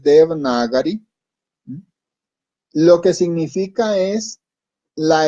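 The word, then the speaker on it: Devanagari: comenzar aclarar ciertas cosas el de vinagre o de banana gripe también se le puede decir pero la pronunciación más adecuada es de berna gary lo que significa es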